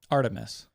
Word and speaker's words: Artemis: Artis Artemis.